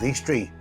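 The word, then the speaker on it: Eastrea: As you can see, this village is called Eastri, spelled R E A at the end.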